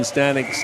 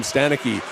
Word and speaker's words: Stanek: I was calling him Stanecky. Yep. Definitely Stanek, from what I understand.